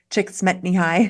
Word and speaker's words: Csikszentmihalyi: Well, one thing I think is important is a lot of the books, Stephen Kotler and Mahai Csikszentmihalyi, which I finally learned how to pronounce, often talk about flow states with sports, but you don't have to be athletic.